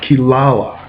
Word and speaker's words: Kirara: demon cat named kilala it's spelled Kirara to Western tongue but it's kilala um in it in